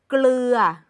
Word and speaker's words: เกลือ: กัน ค่ะ คำ แรก เกลือ เสียง ดัง ฟัง ชัด ค่ะ อย่า ลืม ออก เสียง ล ลิง ด้วย นะ คะ ไกล อีก ครั้ง หนึ่ง